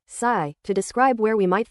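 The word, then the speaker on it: psi: We use the idea of a wave function pronounced sigh to describe where we might find a particle.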